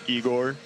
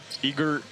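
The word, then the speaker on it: Egor: day more than my actual name is Igor. Okay. Obviously, because well, which makes sense, you know, I'm not getting offended on that. Obviously, my name is spelled like Eigor, so people people pronouncing it like that, but I hear a lot.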